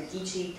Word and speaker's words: Geechee: She's also a member of the Geechee Council of Georgia. Is that pronounced right?